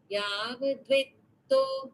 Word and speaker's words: यावद्वित्तो: Yavadvitto parja. Yavat vitto. Yavadvitto No. parjana sakta tavan nija parivaro raktaha. This is also Yavad and then vitto, not dvitto.